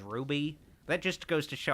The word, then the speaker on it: RWBY: I guess you maybe pronounce it as Ruby.